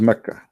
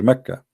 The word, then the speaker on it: Mecca: Sorry, for the people of Quraysh, they pronounce the letter Qa as Ka in such places, like in this case here, Mecca. So all what they do, they switch the letter. So Makkah became Mecca.